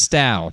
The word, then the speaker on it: Stough: Jodi, I just want to let your last name is pronounced Stough, just in case Jay says it wrong.